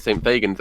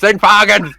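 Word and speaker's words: St Fagans: at a bus stop in Cardiff because I mispronounced it. I called it St. Fagans, and this woman just went, "It's St. Fagans!"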